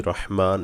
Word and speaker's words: রহিম: বিসমিল্লাহর ক্ষেত্রে অবশ্যই রহমান এবং রহিম, আল্লাহ যে দুইটা নাম আছে অবশ্যই সহি করে বলবো। রহমান অর্থাৎ হা গলায় যাবে, রহিম এই হা গলায় যাবে।